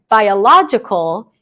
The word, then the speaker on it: biological: For example, if we take the word biological, by, one vowel, diphthong, I, by, ya, right? We have an ah sound. By, sorry, it's a schwa. By, la, open ah, j, lax I, or schwa, and then kol. Biological, biological, biological.